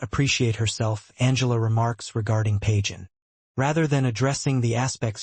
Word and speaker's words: Pagan: Pagan, pronounced like the godless religion, as Aninsley inquires, is a somewhat off-putting sports medicine student characterized by short ginger hair and a more masculine build.